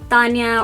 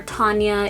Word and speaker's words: Thania: the screen right here pronounced like Tanya or Tanya if you will whatever is easier for you say the very